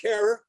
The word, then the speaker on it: Herer: today Dr Todd mikaria Jack Herer who always insisted that his name rhyme with Terror foreign we all saw